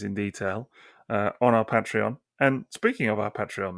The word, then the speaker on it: Patreon: of these toys in detail uh on our patreon and speaking of our patreon Mass we we